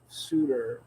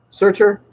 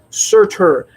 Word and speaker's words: Surtur: And meanwhile, he's got to fight an old Thor foe in the form of Suitor, which is did I pronounce that right? Suitor? Surtur. Never pronounce those names right. Surtur.